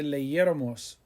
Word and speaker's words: leyéramos: Era bueno que leyéramos muchos libros. Leyéramos, Leyeramos, accent on the E after the Y, leyéramos.